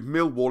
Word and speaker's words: Millwall: Which, a little bit of trivia for you, Millwall is spelt with 4 L's, whereas correctly pronounced, you don't say any of them.